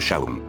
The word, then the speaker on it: Sean: y le menciona que su nombre es Sam pero se pronuncia como Shawn friz que está encantado